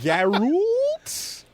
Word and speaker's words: Geralt: Geral Geralt. Geralt. Geralt has one of the most mispronounced names I've ever seen in anything.